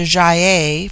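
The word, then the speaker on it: Gy-ei: hard as in guy it forms itself into jaiah for the plural but the G becomes soft in the plural like j-y-e-i they have a proverb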